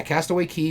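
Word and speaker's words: Castaway Cay: private island is called Castaway Key. I got to remember it because it's spelled C A Y, and I keep wanting to pronounce it as Castaway K, but it's key.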